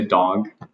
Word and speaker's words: dog: Again, the vowel. And I would say dog.